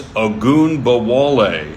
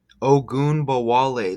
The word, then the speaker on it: Ogunbowale: It's Ogunbowale. And oh, you get wall. Look at that. How you get wall like Trump wall. Ogunbowale. Look at that. How amazing is that? You get wall. Ogunbowale.